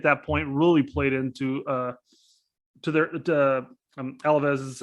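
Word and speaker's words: Alavés: point, really played into Alavez's. Am I pronouncing that right? Is it Alves? Alaves. Yeah.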